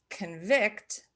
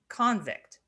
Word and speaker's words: convict: So convict is spelled just the same as convict. So convict being the verb and convict being the noun.